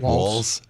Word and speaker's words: Walz: Walls.